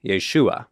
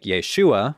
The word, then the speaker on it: Yeshua: probably sounded less like Yeshua with that prominent final syllable rhyming with words like comma or Llama Or iguana but closer to what